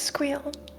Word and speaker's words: SQL: Everyone knows SQL is pronounced squeal. Okay, nice. Another one for squeal. I really like squeakle though.